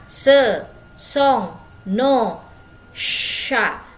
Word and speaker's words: chats: Dibacanya ce sont nos chats. Jadi C sama H itu dibacanya sh, seperti huruf shod kalau bahasa Arab.